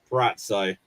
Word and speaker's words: Purrazzo: Purrazzo.